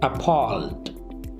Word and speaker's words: appalled: The pronunciation, appalled, appalled. Stress is on palled.